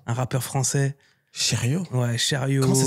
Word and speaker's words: Sheryo: Ouais, Chariot. Comment ça s'écrit, ça?